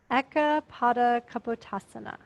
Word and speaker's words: Ekapada Kapotasana: Syllable by syllable. Ekapada Kapotasana.